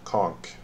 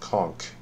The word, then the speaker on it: conch: the fruitless Claunch update conk I hear it's pronounced conk with a K rather than ash if